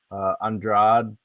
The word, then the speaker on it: Andrade: I did notice that Andrade, I believe is how you pronounce her last name, her opponent, Jessica, was